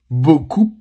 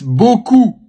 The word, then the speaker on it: beaucoup: And that is not beaucoup or beaucoup. It's beaucoup, beaucoup.